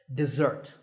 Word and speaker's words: dessert: an e sound and with the stress on the second syllable desert it's really simple but